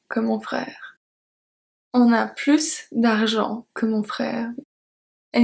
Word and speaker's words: plus: So in this case, we do pronounce the S.